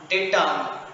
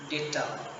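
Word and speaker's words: data: দেবো হয়ে গেল এক যত হোক ব্যাকটেরিয়া এজেন্ডাম ডেটাম মিডিয়াম যত কিছু হোক প্রত্যেকটা শেষে ইউএম বাদ দিয়ে এ বসিয়ে দেবো কি কি বললাম ব্যাকটেরিয়া দুই একটা লিখছি হ্যাঁ ব্যাকটেরিয়া মিডিয়াম ডেটা এটার উচ্চারণ ডেটা ডাটা নয় এক জিবি ডাটা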